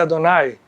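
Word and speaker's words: אֲדֹנָי: O nome de Deus na Kabbalah é representado por 4 letras, esse nome específico, que não se pronuncia ou se pronuncia Adonai.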